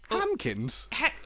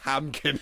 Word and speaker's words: Hankins: He said Hankins. Hankins, right? That's his name. Did I mispronounce it? You said Hamkin. No, I said Han. I heard an M.